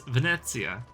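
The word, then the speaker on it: Venezia: the the proper pronunciation based on the language is Venetsia.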